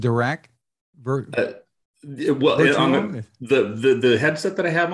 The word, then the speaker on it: Dirac: you're using in this called, I think it's pronounced Dirac. The headset that I have on, or the audio? Is that in the Cleer Alpha? No, in the Cleer Alpha is Dirac.